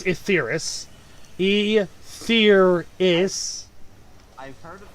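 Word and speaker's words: Etheirys: Well, I'm sorry for wanting to explore more of Asaris. It's first of all, it's Etheris. Etheris. I've heard it pronounced both.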